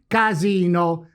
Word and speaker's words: casino: of word Step three: let's build the second word, by placing now the tonic accent on the second vowel, the I of Imola. We get thus: CASINO, which is PIANA type of word.